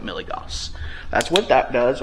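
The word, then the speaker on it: milligauss: something that is called milligos or milligaus depending on how you pronounce it. I call it milligos.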